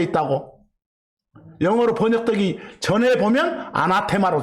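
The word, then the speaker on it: ἀνάθεμα: 뭐 영어식으로 읽으면 어네시머라고 읽습니다만, 그냥 올레식으로 아람어식으로 아나테마 그랬어. 그 아나테마가 바로 저주받는다는 뜻이에요.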